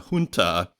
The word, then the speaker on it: junta: and it is with even though it's spelled with a J, it's pronounced H. I was looking it up today. So it's a junta, which is basically a